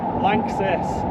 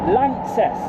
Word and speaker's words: LANXESS: And how do you pronounce it? Lances. Lances.